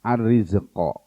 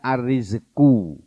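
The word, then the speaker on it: الرزق: Kata-kata rozako Pak Bu, ar-rizqo. Ini asalnya ar-rizku. Kalau dia berdiri sendiri membacanya ar-rizku. Tapi di sini tulisannya ar-rizqo. Kenapa? Karena dia digabungkan dengan fiil di depannya ini.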